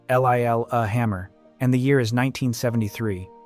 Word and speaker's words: Lillehammer: The place is Lillehammer, pronounced l i l uh hammer, and the year is 1973.